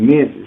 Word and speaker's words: Memfyz: And I created that more smoother so people be like, okay, I feel them, because we don't say Memphis, it's Memphis.